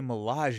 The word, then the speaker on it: Milaje: I was like, I learned how to say Milage yesterday in on the trip home because it's Mirage, but with an L, so it's Milage.